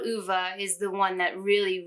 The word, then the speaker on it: Ove: now i realized that i've been pronouncing the name wrong i've been saying oh for a long time uh but it's actually uva uh this book i haven't talked about it